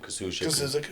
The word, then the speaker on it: Kazuzik: I mean, that really good Nashville football team where Coach, how do you pronounce his last name? Kazuzik.